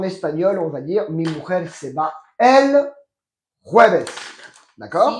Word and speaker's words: mujer: Attention à la prononciation. Mi mujer.